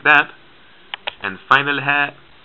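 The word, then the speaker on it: ه: h's we have so this is the light english style h and it looks like this hair just a circle the initial hat is like this okay middle hair like that and final hair like that sometimes at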